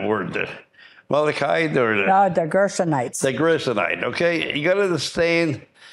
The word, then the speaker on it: Gershonite: And this is where how you pronounce that word? The Amalekite or The Gershonites.